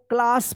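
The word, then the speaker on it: class: यहां पे तो आर है नहीं लेकिन इसको क्लास पढ़ेंगे। यानी ए का यहां पे आ उच्चारण होगा।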